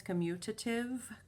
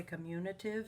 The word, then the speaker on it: commutative: know that multiplication is commutative commutative is how it's spelled there's no n in there most people say communitive it's not an n so i can multiply